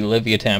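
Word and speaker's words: Livyatan: was like 50 feet long it it's probably Livia tan by the way also that's how you pronounce it spell it pronounced something else oh Livia tan okay yeah it's pretty awesome honestly it is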